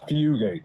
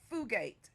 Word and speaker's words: Fugate: It's Fugate, like F-E-W. Fugate.